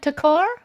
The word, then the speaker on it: Takar: and this is uh am i pronouncing your last name right takar yes yes that's correct okay okay charge ordering